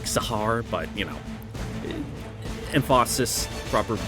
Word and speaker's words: Tsar: I know it's not like Tsar, it's like Sahar, but, you know.